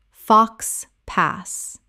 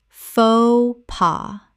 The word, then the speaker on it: faux pas: tor-ti-ya tortilla Word 204: faux pas Common mispronunciation: fox pass Correct pronunciation: fo pa Two syllables, both the X and the S are completely silent in this French phrase.